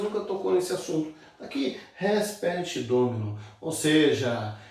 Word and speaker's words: res perit domino: A pronúncia aí, ó, res perit domino.